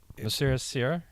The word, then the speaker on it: Monsieur Soeur: But I pronounce it Monsieur Soeur.